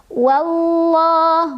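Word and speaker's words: والله: Wallah, wallah. Ada lam jalalah yang dibaca secara tafkhim karena huruf sebelumnya yaitu waw berbaris fathah. Jadi bacanya tebal.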